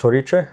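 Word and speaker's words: Hořice: Uh the track is called Horiche. Okay, it's pronounced toit and it's in a small city in Czech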